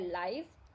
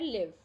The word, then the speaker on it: live: Same है दोनों की, लेकिन प्रोनाउंसिएशन है लाइव और इसकी है लिव, ठीक है।